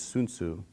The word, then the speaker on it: Sun Soo: of different terms, um the one that I chose was Sun Soo, which the correct pronunciation in Korean is Soon Soo.